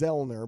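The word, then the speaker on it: Zoellner: know sounds right right you don't pronounce the O so it's vilner but that you will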